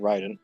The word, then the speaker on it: Raiden: Raiden.